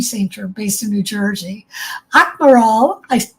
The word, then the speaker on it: Akmaral: I should have asked you how to pronounce this. Akmaral? Akmaral.